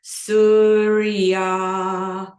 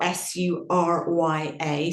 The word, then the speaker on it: Surya: And then on the exhalation, we're going to chant Om Surya Namaha.